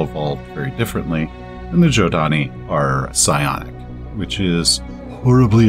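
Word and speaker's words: Zhodani: i've heard it's pronounced jodani like with the j uh because long long long ago the ancients actually seeded many worlds with humans and they all evolved very differently and the giodani are psionic which is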